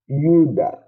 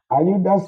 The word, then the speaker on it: Ayuda: Sometimes certain countries in the Latin America pronounce it as J. Pronounce it as J. They can you can replace it as double L. So the two have the same.